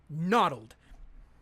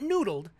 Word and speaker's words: noddled: Noddled. It's spelled like this. And, let's see. Yeah, there we go. It's spelled like that. It's not noodled, noddled.